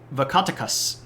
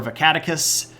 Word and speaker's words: Vakatakas: So let's take a moment to talk about Vakatakas. And that is how you say it. It's not Vakatakas or Vakaticus. It's accent on the first syllable and the last syllable.